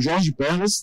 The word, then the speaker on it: Jorge Perlas: Eu estou com o Jorge Perlas, da Cerveira. Acertei? Acertou.